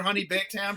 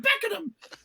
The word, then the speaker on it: Beckenham: Whenever he calls her Honey Baked Ham, she's like, "It's Beckenham. It's pronounced Beckenham."